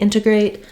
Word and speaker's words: integrate: tend to say integrate so if there's an N we don't use a flap T so either integrate or integrate in either case in the first word integrate we will be stressing on that first syllable so my in syllable is long it has a clear vowel and then I'll have a schwa for letter E and A true clear vowel uh a diphthong for our final syllable eight uh be careful not